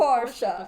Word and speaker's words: Porsche: Like, yeah, it's officially pronounced Porsche.